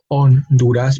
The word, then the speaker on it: Honduras: in Spanish we say on dudas because the the H again is silent here are same thing